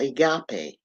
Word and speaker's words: agape: of Love is called agape and they spell it a or a gape a g a p e right a g a p e all right but you pronounce it Agape all right now this